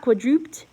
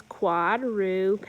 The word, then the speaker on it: quadruped: getting dizzy number four it's not quadruped it's not I can't think of any other way to say it but the correct way to say it is if you look it's quadruped add it look the darker accent is on the first syllable so it says